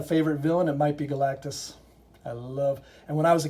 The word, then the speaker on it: Galactus: If I had a favorite villain, it might be Galactus. And when I was a kid, I called him Galacticus. I think my name was better, Galacticus, but it's Galactus.